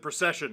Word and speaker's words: Precision: And we have to start with a truly ridiculous one because the man's name is literally Precision, although apparently he pronounces it Procession.